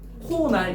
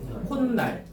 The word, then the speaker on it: 콧날: 그럼 이거 발음하면 어떻게 돼? 이거 편하게 발음해요. 편하게. 코날 이러지 말고. 콧날. 그죠? 콧날로 발음이 돼.